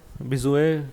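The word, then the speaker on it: Bézout: अच्छा जी, इसमें सॉरी एक और डेफिनेशन भी होती है, ठीक है, बेजुए डोमेन, ठीक है जी। इसमें टी साइलेंट है, बिजुए पढ़ते हैं इसको, बिजुए डोमेन, ठीक है जी।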